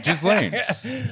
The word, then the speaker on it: Ghislaine: Why would you tell him how it's actually pronounced? Yeah, Ghislaine.